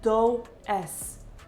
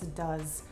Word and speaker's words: does: Does that looks like doses? It's does. Repeat after me.